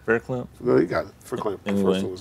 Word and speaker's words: Verklempt: Verklempt.